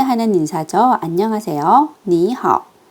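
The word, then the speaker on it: 你好: 빠르게 발음해 볼게요. 안녕하세요. 니하오.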